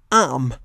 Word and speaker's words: arm: In neither example is the R pronounced, but note that in the last example, the R has an effect on how the word is pronounced, even though the letter itself can't be heard.